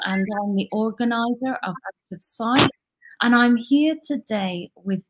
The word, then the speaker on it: Out of Site: Out of Sight, you know, as an organization, is spelled S-I-T-E, sight as in place, and we're really thinking